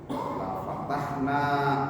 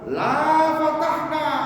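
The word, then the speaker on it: لفتحنا: Karena la-nya enggak pas, jadi panjang. La fatahna alaihim barakatin.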